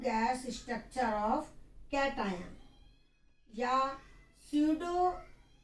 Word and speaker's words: pseudo: structure of Katay or pseudo do p is silent, pseudo active electronic confine